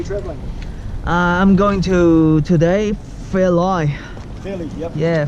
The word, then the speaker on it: Fairlie: It's a lie or it's a lee? It's a lee. Okay. This is a kind of weird name. It is kind of, it's spelled like it. You think it might be pronounced Fairlie. Yeah. L-I-E. Fairlie.